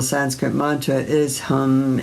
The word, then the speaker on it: hum: The one syllable Sanskrit mantra is hum h u m as well.